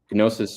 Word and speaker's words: Gnosis: but uh he's the CTO of gnosis freight pronouncing it correctly right yeah yeah that's right Christian appreciate it Jake